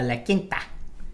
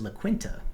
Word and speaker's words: La Quinta: We're going to stay at a La Quinta. Ooh. A little La Quinta. Good quality. Which I used to pronounce as La Quinta.